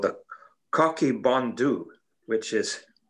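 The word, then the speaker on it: Coch: notes, it's called the Cocky Bondu, which is, it's spelled C-O-C-H-Y, and it's pronounced cock.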